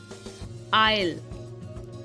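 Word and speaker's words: aisle: बढ़ते हैं silent S silent कब होता है एस साइलेंट तब होता है जब एस के आगे आई होता है ओके वर्ड्स है आईलैंड आइल डेब एंड बर्गवा बर्गवा इन सब में एस साइलेंट है कंपलीटली साइलेंट है यहां पर एस की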